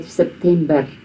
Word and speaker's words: September: The only slight difference is that we say September, in Afrikaans. We roll our R's. And in English it's a softer R.